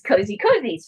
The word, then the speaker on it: COZYzzz: We pronounce the ZZZ as Z's. So this is CNTVs for the little kids.